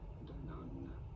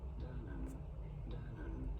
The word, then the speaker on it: Danone: For reference, the French way of pronouncing it, the way it is said in France, is as Danone. Danone. In the Danone. UK, in British English, this is usually said as Danone.